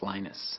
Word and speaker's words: Linus: speak Finnish it's lenus when I speak English it's lonus and I really don't care